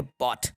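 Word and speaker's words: bought: इसमें ये जो जी एच है, जी एच साइलेंट है, क्या है? जी एच साइलेंट है, तो यहाँ पे इसको बॉट पढ़ा जाएगा, और बॉट का मतलब होता है खरीदना। दे बॉट, तो जब भी टी के पहले जी एच आए तो जी एच को साइलेंट करा जाता है, जी एच हमारा साइलेंट होता है।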